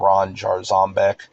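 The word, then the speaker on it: Ron Jarzombek: So, there's this like technical metal guitarist guy named Ron Jar Zombbeck, and that's how he pronounces it. Like emphasis on the Zom part of it, I guess, like zombie or whatever.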